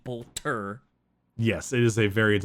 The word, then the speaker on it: bolter: bolt bolter i i'm trying to remember to say it properly instead of bolt or which is the warframe gun i'm trying i'm trying to get into saying bolter yes it is a